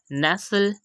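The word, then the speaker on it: nestle: Second example है नेसल। इसमें भी हम देख सकते हैं कि टी से पहले एस आ रहा है और उसके बाद एल आ रहा है तो हमने टी को साइलेंट कर दिया।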